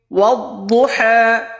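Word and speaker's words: والضحى: ওয়াদ-দুহা, উচ্চারণ ওয়াদ-দুহা। দত হরফটা মোটা হবে, নরম হবে, এবং হা হরফটা হলকের মধ্যখান, গলার মাঝখান থেকে হবে।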